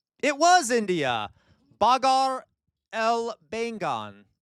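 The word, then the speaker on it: Baghare Baingan: Bagar El Bengan. Okay, Bagar El Bengan. That is a correct pronunciation, 100%. Okay, 100% correct pronunciation.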